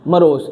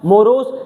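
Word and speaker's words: morose: इसको आप जब आप पढ़ते हो तो क्या आ रहा है? मोरोज, लेकिन जब आप इसकी प्रोनाउंसिएशन गूगल पे सर्च करोगे तो क्या आएगा? मरोज आएगा, मरोज।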